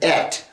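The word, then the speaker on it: את: I think Aleph Tav, or Et as it's pronounced, appears at least 74 times in the book of Esther.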